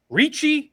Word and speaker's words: Ricci: Is it Ricci? Am I saying it right? It is. Giovanni Ricci.